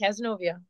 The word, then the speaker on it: Cazenovia: So you were educated at, I probably will not pronounce this correctly, Cazenovia College. Am I Yes. close? You got it, Cazenovia.